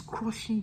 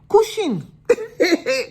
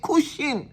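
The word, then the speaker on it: Cushing: condition called crushing syndrome yes it's crushing you crushing m- that's not how to pronounce it oh cushion cushion let us pronounce it well cushion syndrome C sh i n g and this will lead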